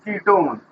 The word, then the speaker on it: ketone: That is, इसमें we use suffix "un", writing one but reading pronounced "own", and this is ketone, right?